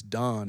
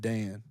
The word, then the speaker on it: Dan: And it's Don. It's not Dan. Yeah, Don, not Dan.